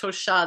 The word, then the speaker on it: Tosha: Tosha but it's pronounced Tosha the accent like like yours is one of the interesting layered names I call it layered um but uh when you say Tosha with the accent on the end it's a in uh